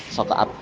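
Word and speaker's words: Saq'ab: Tayyib, haddatsana Hamad bin Zaid anis Saqab ibni Zuhair, siqah beliau, bacanya susah tapi Saqab.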